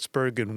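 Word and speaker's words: Spergon: Could have had Spurgeon win, but they passed on him. All right. Is it a hard G in Spurgeon? No.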